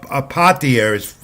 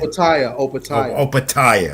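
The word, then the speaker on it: Opetaia: Opataya, right? Opataya, yeah, he's in my notes here, I made sure to put the pronunciation key right about his name because I never get that right, among many others as well.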